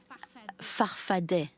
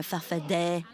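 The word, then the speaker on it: Farfadaa: Your movement, you call it farfada with two A's at the end, but you pronounce it farfadet. Answer, depends on who pronounces it. I've always said I'm a farfadet.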